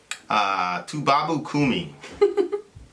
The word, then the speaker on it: Toubabo Koomi: Toubabo Koomi.